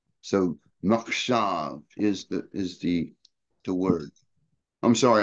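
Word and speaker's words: מחשב: It's makshav is what it is. Makshav? Makshav, yeah. The mem chet is the mach.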